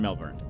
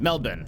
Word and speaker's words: Melbourne: Unless you're in Melbourne. Why did I say it like that? Melbourne.